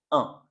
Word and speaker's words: un: sons et aujourd'hui on va s'intéresser au son 1. OK. Donc une première façon de l'écrire, ça va être avec un u et un n. Donc ça se prononce 1 comme dans 1 comme ça.